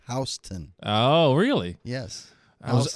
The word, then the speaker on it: Houston: GPS coming here and the street really isn't pronounced Houston. My GPS corrected me. It's pronounced Hston.